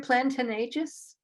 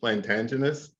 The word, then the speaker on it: plantagenous: Plantanegus? I like I like your pronunciation, but I came up with this word, plantagenous. Plantagenous. Okay.